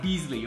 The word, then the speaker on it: Basili: See, the magazine says Basili barbecue is pronounced Beasley.